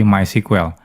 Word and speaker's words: MySQL: Oh ya ini walaupun tulisannya MySQL tapi dibacanya MySQL ya. Jadi bukan MySQL tapi MySQL. Nah, selanjutnya kita akan belajar menginstal MySQL.